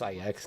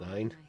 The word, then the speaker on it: IX: Oh, it's pronounced IX, not 9?